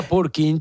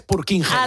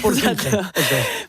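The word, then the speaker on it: Purkinje: Es un nombre un poco extraño, eh, con J que igual se pronuncia purch alguna cosa así, ¿no? Pero aquí en España es purkinge, española es purkinge.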